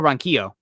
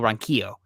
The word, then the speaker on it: Ronquillo: not ideal group michael ronquillo coming in here as carly said it wrong earlier we got to get michael's name right michael ronchio um speaking spanish um i